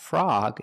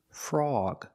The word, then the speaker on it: frog: some other examples frog the O is before the G so it's not frog it's frog frog and this word log